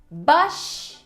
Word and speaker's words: bush: So the correct pronunciation is bush, bush. It's a U sound. É um som de U. Não é um U igual de bush. Não é um U longo assim, mas é um bush.